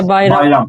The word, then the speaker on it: Bayram: Katala Bayram, this is how you say it in Turkish? Yeah, Bayram.